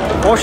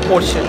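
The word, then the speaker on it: Porsche: এটা পর্ষ না পর্ষে বাইরের দেশে এটা একচুয়াল প্রোনাউন্সিয়েশন হচ্ছে পর্ষ মানে ইন্ডিয়াতে লোকে বলে পর্ষা পর্ষা ওকে আবার অনেকে পরশেও বলে পরশেও বলে ই যেহেতু আছে লাস্টে পরশে হয়ে যাবে ওরা একচুয়ালি হচ্ছে পর্ষ পর্ষ ঠিক আছে আমিও ভিডিও শুটেই তোমাদের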